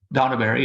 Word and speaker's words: Dornubari: Is it pronounced Dornubari? Donaberry, yeah.